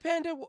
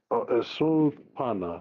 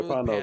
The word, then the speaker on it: Pana: Well, it's Pana. P A P. The last Yeah. Pana. Yeah.